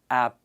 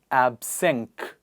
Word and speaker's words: absence: So phonetically, it's going to be absence, not absence, absenk. I'm afraid it's not absenk, it is absence. So C not being referred to as K.